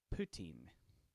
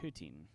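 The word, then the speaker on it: poitín: i'd introduce it um it's poutine which has an irish rogue to it but putin or poutine or potent but putin is how it's pronounced so here we go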